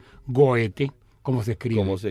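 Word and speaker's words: Goethe: yo digo que todavía pero cómo se debe decir goete como se escribe cómo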